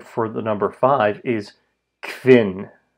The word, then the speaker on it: kvin: But again, think of the English word quintuple.